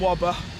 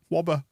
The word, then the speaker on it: Wöber: lots of different ways this guy did it in a way that I prefer we've got and wobber yeah let's Center our and robbers that's the episode there's the episode title yeah I'm gonna go with Whopper from now on I think that's what it would be pronounced like in Yorkshire isn't it we don't do it